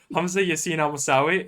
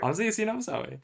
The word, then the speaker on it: Hamza Yasin Almusawi: All right, Hamza Yasin Almusawi. Did I say it correctly? Yeah. All right, yeah. Yeah. Hamza Yasin Almusawi.